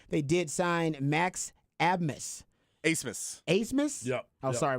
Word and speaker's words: Abmas: Asmus. Asmus? Yep. Oh, yep. sorry about that. So, It is spelled Admus, but it's pronounced Asmus.